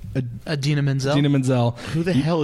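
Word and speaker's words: Idina Menzel: Adina Menzel.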